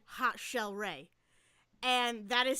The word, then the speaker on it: Hot Chelle Rae: band bracelets that they were making that said Hot Chelle Rae and that is spelled H ha ha h o t CH